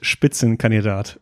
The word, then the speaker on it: Spitzenkandidat: Vic I have to say first you already pronounced the word spitzen canat very well I I see you you I